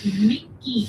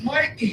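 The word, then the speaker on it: Mikie: I need to do a little bit better on my pronunciation of things, but Mickey. Mikey! Her name is Mikey!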